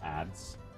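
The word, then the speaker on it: adze: And, the problem is we also have ads. That's how that is pronounced.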